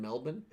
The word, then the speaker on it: Melbourne: you just said it melbourne melbourne melbourne that's how you say it if you lived in australia i would have no